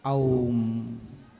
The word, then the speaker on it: ओम: ओम का मतलब है, ओम जो है 3 अक्षरों से मिलकर बना है जी। 3 शब्द हैं, आ उ मा जी। कितने हैं? आ उ मा। इसलिए ओम का शुद्ध उच्चारण क्या है? ओम। ओम।